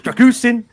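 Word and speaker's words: Drăgușin: I'm told it's Dragusin.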